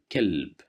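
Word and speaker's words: كلب: Here we have the letter kaf and fatha right above the kaf. So that's why we'll pronounce it as ka, kelb.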